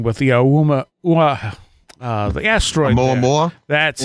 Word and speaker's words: Oumuamua: Oumuamua. That's Oumuamua.